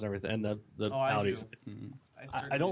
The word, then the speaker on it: Audi: I said Audi with the RS car. Speaking of Audi, though, it starts with an A. It rhymes with howdy.